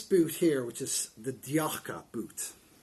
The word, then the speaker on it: Tjakke: here which is the diaka boot spelt what is all speller t j a k k e for those of you that are from sweden i apologize for my pronunciation i think it's yakka and like i said